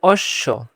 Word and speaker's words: অশ্ব: অশ্ব, এখানে কিন্তু অনেকজন ব দিয়ে ফেলে, এখানে ব হবে না কখনো, এখানে ব হবে না, এখানে উচ্চারণ হবে অশ্ব।